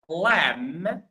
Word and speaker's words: lamb: yes so again so these four words all of them they have a B and all of them or in all of them the B is not pronounced the B is silent.